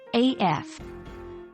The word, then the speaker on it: AF: spoken in spoken form it's usually pronounced as the individual letters AF When writing it's commonly